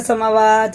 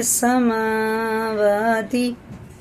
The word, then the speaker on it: السماوات: زبر کے ساتھ ہے، ایسے سماوات ہی نہیں پڑھیں گے، یا سماواتی، دونوں برابر کھینچے جائیں گے، سماواتی، ٹھیک ہے نا۔ قل،